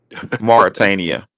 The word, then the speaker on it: Mauritania: and can you pronounce the name of the country again? Mauritania.